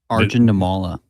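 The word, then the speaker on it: Arjun Nimmala: I can't pronounce it. The Jays prospect. Arjun Namala.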